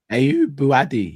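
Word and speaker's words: Ayyoub Bouaddi: How do you pronounce this guy's name? Ayub Buadi.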